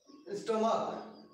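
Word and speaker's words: stomach: समझ लीजिए आप लोग, अगर सी एच को हम क प्रोनाउंस कर रहे हैं, जैसे स्टोमक, जो हमारा पेट होता है उसको हम लोग स्टोमक कहते हैं, यहां पे सी एच है लास्ट में लेकिन इसका प्रोनाउंसिएशन च नहीं है बल्कि क है, स्टोमक।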